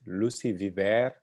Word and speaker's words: Lucie Viver: Lucie Viver, as she told me is the right pronunciation.